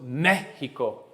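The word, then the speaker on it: México: How many syllables in Mexico? 3. Where am I putting my push? On the first. So what does that tell me? Accent on the E.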